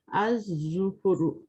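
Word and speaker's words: الظُّفُرُ: Az-zufuru. Az-zufuru. Az. We will skip the lam. Az-zufuru.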